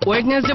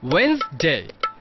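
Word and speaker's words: Wednesday: আছে আবার কি সমস্যা ওয়েডনেসডে বলে তো কোনো শব্দ নেই উচ্চারণটা হবে ওয়েডনেসডে ওয়েডনেসডে বাই দ্য ওয়ে তোদের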